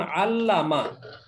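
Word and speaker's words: عَلَّمَ: চার বর্ণের ক্ষেত্রে শক্ত যেমন আল্লামা এখানে যদিও তিন বর্ণ দেখা যায় কিন্তু লামটা দুইবার উচ্চারণ আল্লামা মানে হলো আল্লামা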